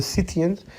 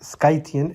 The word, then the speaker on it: Scythian: skythian tribe now some people call it the scythians but the correct pronunciation as the greek service skythian and the people themselves they call themselves suckas